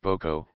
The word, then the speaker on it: Bocal: Bocal, pronounced boco, is French for jar, and they run from